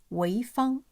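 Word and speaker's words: 潍坊: And We Found coincidentally has totally same pronunciation as a city in Shandong province, China. And the city's name is Weifang.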